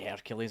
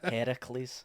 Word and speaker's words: Heracles: I mean, it's just spelled with a K, but anyway, I don't know. All right, that's how they spell it over there. Okay. Well, I'll take your word for it. Heracles. That's what they say over there.